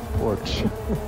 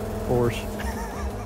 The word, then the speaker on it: Porsche: up porch porch awesome that word porch but it's hit Porsche yes I said it right Morris said porch